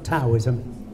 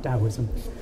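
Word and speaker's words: Taoism: both Buddhism and from TSM yeah some people pronounced tosm uh could you all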